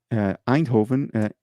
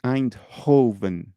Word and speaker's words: Eindhoven: How do you spell that? Eindhoven, EIND of data.